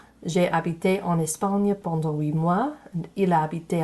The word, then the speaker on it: huit mois: And then the T on 8 mois, the T is silent there.